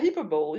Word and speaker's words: hyperbole: Yeah, hyperbole, yes. Not hyper, but hyperbole.